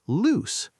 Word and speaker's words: loose: So, next time you're not sure, think, does this word rhyme with shoes? Then it's lose. Does it rhyme with goose? Then it's loose.